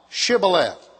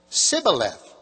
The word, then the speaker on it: Shibboleth: verse for the morning, say now, Shibboleth. And he said, Sibboleth, for he could not frame to pronounce it right.